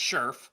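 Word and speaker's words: Scherff: still it's sherff right because it's so close to sheriff it's it's fine on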